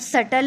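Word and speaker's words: subtle: ये word सटल है, इसमें बी साइलेंट है।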